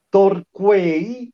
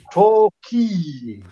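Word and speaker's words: Torquay: Shark del Manchester United non si pronuncia torqui ma tochi perfetto l e toky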